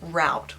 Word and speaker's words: route: of for this but in new zealand we say rude like if you're going somewhere you are taking a route there i know that americans say like route or something so just know that